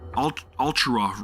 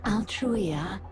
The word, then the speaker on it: Altruia: Ultrua, right? I am Altruia. Altruia. Okay, that's how it's pronounced, Altruia.